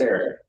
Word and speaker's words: Aric: Well, I mean, I actually want to pronounce it like you would do it, Aric. It's Aric.